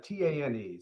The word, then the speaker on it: Tane: bit of unusual name so it's uh it's pronounced t-a-n-e so it's uh tane um my